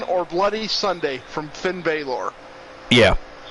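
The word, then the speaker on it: Bálor: Bloody Sunday from Finn bayor yeah or Balor I guess is technically how it's supposed to be pronounced but Balor yeah I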